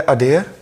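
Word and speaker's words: adhere: तो आज का पहला वर्ड है अडेयर। इट इज़ a verb. इसकी राइट प्रोनाउंसिएशन अडेयर होती है।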